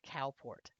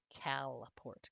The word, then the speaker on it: Calport: So, not Cowport, Calport, Kalport. Well, you name a town what you're known for.